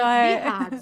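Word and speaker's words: BI-RADS: um nomezinho na mamografia chamado birads é assim que se pronuncia birads eu não sei se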